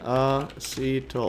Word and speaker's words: acetyl: Okay, how do you pronounce acetyl again? Acetyl.